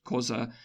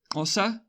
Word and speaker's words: Xhosa: uh Zulus and and xhosa now so I'm pronouncing because they're wrong because I'm really bad at the click and I don't want to do it wrong but I think that it's Osa I'm bad at clicking